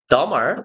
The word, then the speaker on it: dumber: we're, dumber, B는 묵음입니다.